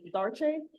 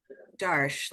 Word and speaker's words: Darsh: I don't want to, Darche? I'm sorry, is that how you pronounce? Darsh, like think Darsh. Darshowski, not like fancy French people.